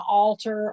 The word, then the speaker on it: altar: It's pronounced exactly the same.